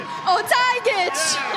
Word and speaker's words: Otajagic: And your champion, $3,000 for first place from us, $500 from Gilo, $300 from Gas, Medina you pronounce it. Otajagic.